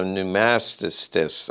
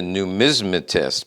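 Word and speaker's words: numismatist: Also known as a numastist, a hypnotist. Okay, just messing with you. I know it's a numismmetist because I had Siri tell me how to pronounce it.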